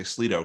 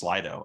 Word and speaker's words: Slido: I sometimes say Slido because that's what NVDA insists on saying, but it is pronounced Slido.